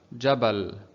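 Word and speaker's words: جبل: let's take some examples jabal okay jebel what's above gene here we have fat so we don't pronounce it as ju or g we're pronouncing it as ja jabal okay and what after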